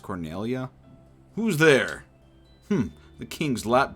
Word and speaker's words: Cornelia: life cornelia will be mine uh it's actually pronounced cornelia who's there the king's lap dogs do you